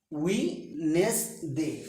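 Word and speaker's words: Wednesday: ওয়েডনেসডে, ওয়েডনেসডে, ওয়েডনেসডে নয়, ওয়েডনেসডে, ওয়েডনেসডে, উইনেসডে, ডি উজ্জ থাকবে।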